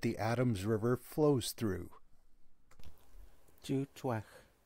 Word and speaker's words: Tsútswecw: this is how you pronounce the name of the provincial park that the Adams River flows through Dutoit